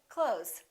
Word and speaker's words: clothes: Same thing with the word clothes. We don't really say clothes. You might hear a tiny TH with some people's pronunciation, but most people just say clothes.